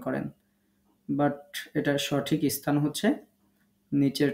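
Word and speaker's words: ب: দুই ঠোঁট থেকে আমরা 3টি হরফ উচ্চারণ করব। 15 নম্বর মাখরাজ, বা, ওয়াও, মিম। বা, ওয়াও, মিম। মনে রাখবেন, যখন আমরা বা উচ্চারণ করব, ঠোঁটটা স্বাভাবিক পজিশনে রাখবেন। দেখবেন ঠোঁটের যে ভিজা অংশ আছে এখান থেকে বা উচ্চারিত হবে।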